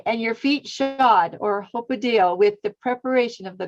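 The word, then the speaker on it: ὑποδέω: Hupodeo. Hupodeo. Yeah, hupodeo. Okay, and your feet shod, or hopodeo, with the preparation of the gospel of peace, shalom.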